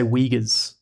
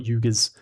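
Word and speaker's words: Uyghurs: I think you say Weaggguers, not Yugis.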